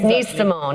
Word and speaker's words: Nice Simon: Nice Simone is how you would pronounce it.